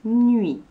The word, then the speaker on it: nuit: Nous allons également travailler avec le mot nuit. La nuit. Attention, dans le mot nuit, il y a un T muet à la fin.